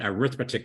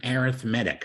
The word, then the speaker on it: arithmetic: an arithmetic sequence now it's spelled the way same way you spell arithmetic but don't call it arithmetic sequence it's a it's an arithmetic sequence it's kind of like